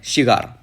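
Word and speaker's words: Shigar: है सिगार river okay सिगार नहीं सिगार okay फिर एक बार इसका स्पेलिंग है एस एच आई जीआर तो ये बाल्टो ग्लेशियर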